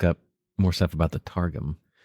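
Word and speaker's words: Targum: more stuff about the tarum how would you spell it so I actually uh t a r g m nice like a mixture of tar and gum and sorgum oh sorum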